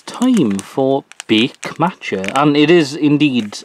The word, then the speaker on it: Bake: Alright, it's time for Bake Matcha. And it is, indeed, pronounced bake, because that says beigu.